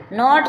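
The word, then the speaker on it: gnat: जाली से बोलते नेट इसमें जी एन से पहले जी आई साइलेंट है रिजाइन रिजाइन मींस त्याग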